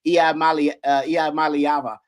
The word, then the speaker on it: Iamaleava: I just learned how to pronounce his name, Iamaleava.